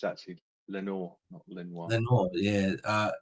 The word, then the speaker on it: Lenoir: is how you pronounce it yeah it is pronounced Lenor not Lenoir buten I don't look that's how I pronounce